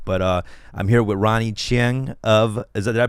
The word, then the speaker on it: Ronny Chieng: all that stuff but uh I'm here with Ronnie Ching of is that I pronounced that right you're gonna chain yeah Ronny Chang of The Daily Show and stand-up comedian hey